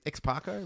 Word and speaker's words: X-Parco: X-Parco rhymes with taco.